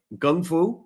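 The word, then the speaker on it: Kung Fu: awesome uh systems like Gung Fu right that's a proper pronunciation everyone says Kung but it's Gung Fu uh and taii Hara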